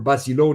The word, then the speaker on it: Basilone: Basilone, like the gold medal in World War II, John Basilone, that Americans pronounce as Basilon.